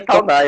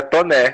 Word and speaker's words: Taunay: E nem é Taunay, é Toné. Cheio de pegadinha esse nome. O que parece mais fácil, a pronúncia é diferente. Totalmente diferente da escrita, né?